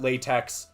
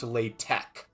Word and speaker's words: LaTeX: wrong I called it latex because it's spelled latex it's pronounced latek um it's spelled with an X it's pronounced Tech I don't know um